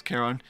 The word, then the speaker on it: Charon: I was gonna say her name is Sharon, but no, it's Charon.